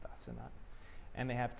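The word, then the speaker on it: Asenath: I think it's pronounced Asenat.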